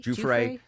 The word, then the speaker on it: Giuffre: That is where Virginia Giuffre worked, of course.